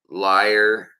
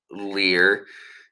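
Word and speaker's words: lyre: or rather Platinum uh liar as it's pronounced uh even though it looks like leer um sorry guys I'm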